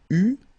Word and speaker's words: eus: Okay, so j'eus, final S not pronounced, tu eus, final S not pronounced, il eut, final T not pronounced, elle eut.